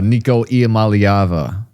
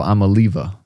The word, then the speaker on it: Iamaleava: star star quarterback uh Nicoyava. And I think um we've been pronouncing his name wrong this whole time, guys. I think it's uh Nico Amaliva.